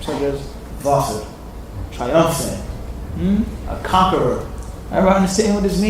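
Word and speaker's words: ظافر: Well, I'll just say Zafir, which is an incorrect pronunciation because the letter Zay is not like the letter Dha. They have totally different nature. Dha is heavy, Zay is soft.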